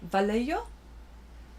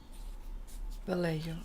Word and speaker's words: Vallejo: to start with okay, the Y in Vallejo is pronounced like a H. It's Spanish. Okay, Vallejo?